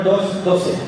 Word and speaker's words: Dos Doce: Ok, il ballo si chiama Dos Doce. Allora, come sapete, vous allez voir, Deux Douze, d'accord? Pronuncia in spagnolo Dos Doce.